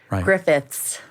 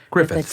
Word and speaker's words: Griffiths: it spelled and pronounced so Griffiths Griffith THS like Griffith's Park and not Griffith right or griffi yeah okay how about